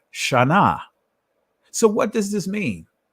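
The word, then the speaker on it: shanah: ancient hebrew word and it's pronounced sha na now i'm going to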